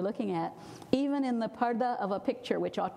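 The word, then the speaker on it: purdah: English p u r d a which they pronounce Pura sometimes but it's PARTA it means being in a curtain or being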